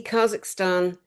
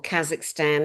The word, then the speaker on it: Kazakhstan: You know, the Kazakhstan or Kazakhstan, there's different ways of pronouncing it.